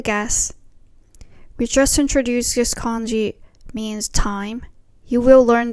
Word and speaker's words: 間: It's pronounced as kan in words like 時間, time.